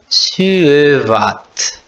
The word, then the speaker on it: syövät: Aqui eu vou falar um pouquinho mais devagar. Suvat. Né? Então tem que pronunciar suvat.